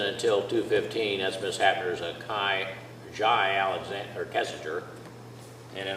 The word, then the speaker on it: Jai: All right, are you Jai Kessinger? Yes, sir, Your Honor. All right, then that's the correct name to pronounce, the way to pronounce that first name?